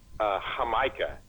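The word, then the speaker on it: jamaica: here they call it huh mica yeah they go with of course they pronounce that J is haha they call huh mica and I buy it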